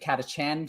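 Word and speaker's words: Catachan: in the entire Imperium is called Katachchan or Katakan depending on how you want to pronounce it. I prefer calling it Katachan. So you can get the whole like their Chan like on Chan.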